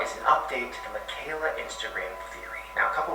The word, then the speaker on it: Michaela: And it's pronounced Michaela.